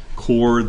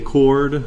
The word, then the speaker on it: chord: apply properties of chords remember that does have an H there but we pronounce it as if it is a chord that you use to charge your cell phone and what is a chord you will remember that